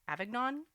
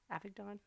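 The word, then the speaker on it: Avignon: And then to Avag Avagnon. Oh, epic dawn.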